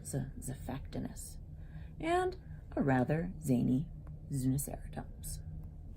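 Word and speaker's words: Xiphactinus: His name begins with an X, but it's pronounced as Zephactinus.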